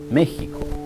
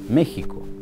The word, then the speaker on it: México: particular es como decir méxico méxico qué ec se escribe con x pero suena como una j se pronuncia méxico y en white hart